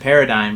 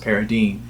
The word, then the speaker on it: Paradine: or the the paradine case I always always pronounced it paradig but then when I watch the movie I realized it's actually pronounced paradine and uh that's the name of the main